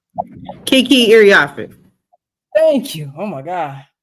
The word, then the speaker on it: Iriafe: And also joining her, the number 4 pick, Kiki Irafine. Say her name. Kiki Iriafe.